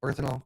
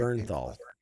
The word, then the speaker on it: Bernthal: Berthanol. Berth is that right? Bernthal Bernthal.